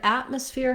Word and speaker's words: atmosphere: word at um atmosphere what we do here is there is a t there but i don't say atmosphere with a release t because the next syllable starts with an m i'm going to use